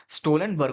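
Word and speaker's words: Stoltenberg: सहूलियत के अनुसार पर इसका ढंग से प्रोनाउंस अगर करेंगे तो जेंस स्टोल्टनबर्ग ढंग से जो इसका प्रोनंसिएशन होगा वो जेनस स्टोलबर्ग होगा ठीक है जेनस स्टोलबर्ग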